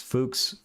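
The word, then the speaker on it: Fuchs: It's fuks from the German for fox where you pronounce the u like the u from zoo.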